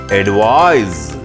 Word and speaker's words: advise: advice whereas a v i s e is pronounced as advise advise z z s z sound we should